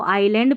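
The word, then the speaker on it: island: देते हैं नहीं यहां पर इसको आइलैंड पढ़ना है आई एस इज़ नहीं पढ़ना एस यहां पर साइलेंट है इसलिए आइलैंड पढ़ा है द्वीप।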